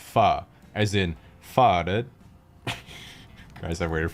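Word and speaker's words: phở: pun involving the word foe fo sure foe ever fo true foe you etc but in reality the word is actually pronounced fa as in guys i've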